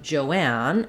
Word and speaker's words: Joanne: Then lastly, we have Joanne, and the difference here is that we have a two-syllable name. So Joan, we have just the O vowel. In Joanne, we do have the O vowel, but the separation is here. So it's just spelled with O, and letter A is saying the ah, black cat vowel.